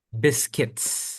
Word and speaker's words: biscuits: Biscuits. Ini bacanya Biscuits. biscuits. Nah, betul. Biscuits. Iya, U-nya nggak usah dibaca.